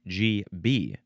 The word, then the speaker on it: GB: And it does say the pronunciation is GB. GB actually emphasize the second one.